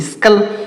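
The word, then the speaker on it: skull: यस के, तो यस के से हमने बताया आधा श और क लिखेंगे, यू का उच्चारण यहाँ पर नहीं होगा, डबल एल से लॉ लिखेंगे, तो इसे लिखेंगे स्कल, इसे क्या लिखेंगे स्कल।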